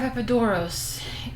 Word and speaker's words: Epidaurus: Theater of Epidaurus.